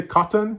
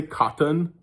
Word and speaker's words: cotton: Put a one in the chat if you pronounce it like I pronounce it. Cotton. Like you don't pronounce the T's.